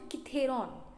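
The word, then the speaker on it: Cithaeron: तो अब इसके जो रियल पेरेंट्स होते हैं वो इसको माउंट किथेरॉन, सी रहेगा, के नहीं रहेगा ना, CI करके आप लिखिए स्पेलिंग, CITHERION, किथेरॉन, ठीक है।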